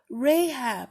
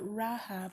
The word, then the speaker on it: Rahab: Okay, I've gotten a pronunciation. Rahab, not Rahab.